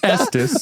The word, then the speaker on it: Estes: Does not rhyme with testes or any sort of genitalia at all. That's just Estus. So, it's the Estus method.